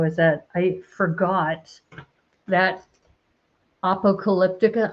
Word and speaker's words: Apocalyptica: that I forgot that Apocalyptica or Apocalyptica. That's how they pronounce it. I used to call it Apocalyptica, but they call it Apocalyptica.